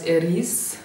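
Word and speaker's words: Ariz: ist griechisch und Arabisch im arabischen sagt man das Eris schreibt man aber AAR R i Z und ich hätte es eigentlich a RIS geschrieben und dann kamen wir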